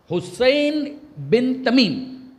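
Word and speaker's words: حصين بن تميم: उस जगह पर नाम है स्वाद ये नून सीन नहीं स्वाद हुसैन बिन तमीम मगर कंफ्यूजन ना हो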